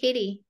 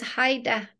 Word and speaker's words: Heide: My last name is Heide, and people call me Heidi. I thought it was Heidi. It's Haida, but the E is silent.